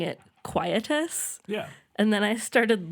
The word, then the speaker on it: quietus: called Quietus, and it turns out we realize it's a